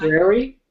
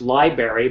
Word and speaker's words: library: Library is often pronounced library, but it should be pronounced library.